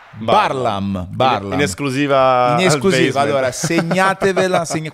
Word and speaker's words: Barlaam: primo colpo di scena la pronuncia esatta del cognome di Simo è parlam Parla in esclusiva Allora segnatevi quando il tg1 diranno e ha vinto la medaglia d'oro Simone barlamme e no no no